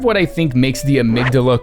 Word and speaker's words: Amygdala: I think makes the amygdala cool in chalice dungeons and yes that is how you correctly pronounce that by the way is